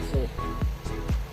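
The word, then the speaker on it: Hessle: Fantastic views of the Humber Bridge in the background and the foreshore here at Hessel, or Hessel as the locals pronounce it.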